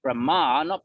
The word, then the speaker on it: Brahman: something like that he so Brahma not Brahman I won't explain the difference now but Brahman ends in an N that's what we've